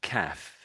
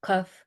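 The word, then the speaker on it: half-caf: Half cuff. Half cuff. So it's more calf. Ah. The a the vowel is more ah.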